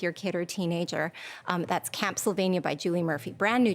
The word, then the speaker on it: Camp Sylvania: What does Camp Sylvania rhyme with? A spooky place, right?